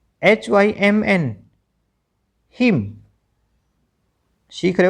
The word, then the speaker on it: hymn: CONDEMN condemn, N silent यहाँ पर भी। ठीक है, HYMN हिम, सीख रहे हो साथ साथ।